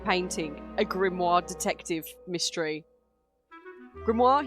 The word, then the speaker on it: Grimoire: Grimmoir. He pronounces his name differently to how I say it.